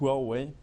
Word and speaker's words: Huawei: for the pronunciation so it's pronounced well way you might have not